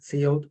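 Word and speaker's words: cout: esto sino que promoción se pronuncia see out Por más que todo el mundo le diga code es sí lo dijo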